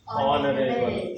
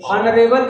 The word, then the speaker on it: honorable: ए तो नहीं आएगा सर एन ए एन इसको कैसे प्रोनाउंस करते हैं? ऑनरेबल ऑनरेबल कहते हैं कि ऑनरेबल?